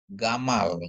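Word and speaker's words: גמל: Sedangkan ini Gmail dikasih kamats, mem dikasih kamats, tambah lamet, bacanya adalah gamal ya.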